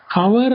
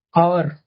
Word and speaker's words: hour: ஆனா நீங்க ப்ரொனவுன்சியேஷன் பண்ணும்போது என்ன பண்ணுவீங்க, ஹவர் அப்படின்னு படிக்க மாட்டீங்க, HOUR, ஹவர் அப்படின்னு ப்ரொனவுன்ஸ் பண்ணக்கூடாது இந்த வார்த்தையை. சரிங்களா? எப்படி ப்ரொனவுன்சியேஷன் பண்ணணும், அவர். ஓகே, ஸோ அவர் அப்படின்னு ப்ரொனவுன்ஸ் பண்ணணும்.